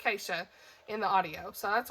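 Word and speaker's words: Geesje: characters is g-e-e-s-j-e and they say almost like so it sounds like keisha acacia kant acacia it almost sounds like keisha in the audio so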